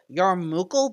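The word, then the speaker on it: yarmulke: Tamaltok, close enough on the spelling. That's how I pronounce it. It's technically closer to Yarmukal, but I don't hear anyone say it like that.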